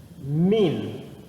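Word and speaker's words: מִן: seja um i e pronunciar assim ó min min mem tem som de me o n tem som de n então ficaria min min essa pronúncia e min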